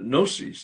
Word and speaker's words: gnosis: agnostic comes from the greek word gnosis the g is silent